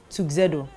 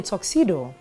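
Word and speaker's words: tuxedo: call it Tu zedo he's not wearing a tuo he's wearing a toxedo I can see how you would make that mistake based on the way it's spelled but just in case you've been making the mistake it's called a toxedo not a tuo for next time so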